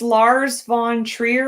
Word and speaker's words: Lars von Trier: But it's the director's name is Lars von Trier. Am I pronouncing that right?